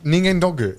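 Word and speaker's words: 人間ドック: ningen doku. Yeah, but which is ningen doggu. It's like doggu.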